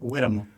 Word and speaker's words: Hueramo: Whitmore. Say again. So, I had it's a dip thong. My news my newsman said it's a dip thong. You don't pronounce the H.